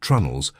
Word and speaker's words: treenails: fitting planks with wooden pegs called treenails, pronounced trunnels, and applying techniques of caulking, fairing, and finishing that have been passed down through chains of apprenticeship stretching back centuries.